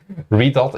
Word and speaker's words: Redot: It's definitely Redot is pronounced like Godot.